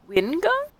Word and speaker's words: Vingard: Wingard? Correct. Claudia Vingard. It's spelled with a V.